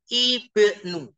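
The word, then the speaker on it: ابن: Lihat, Ibnu. Hamzahnya dibaca.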